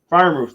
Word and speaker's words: Freiermuth: Freiermuth, there you go.